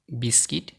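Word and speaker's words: biscuit: এই শব্দগুলোর ইউ সবসময় সাইলেন্ট থাকে, যেমন guest, গ্যাজ, guitar, guard, building, guilty, রগ, ভগ, বিস্কিট, টাং।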